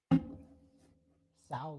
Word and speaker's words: Sow: Sow like cow.